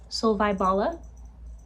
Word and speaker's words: Solvej Balle: Solvej balle is what this dude on this video said, so that's what we're gonna go with.